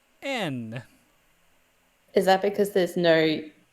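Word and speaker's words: 円: And as funny as it sounds, even though we say Japanese yen, in Japanese it's pronounced N.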